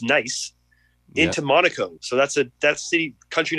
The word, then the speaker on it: Nice: No, and then I took the train 45 minutes through Nice, pronounced Nice, into Monaco.